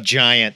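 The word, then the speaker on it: Gyant: supposed to be pronounced giant I in my head kept calling him giant it's definitely giant there's no question there's too many puns for it not to be giant I mean I get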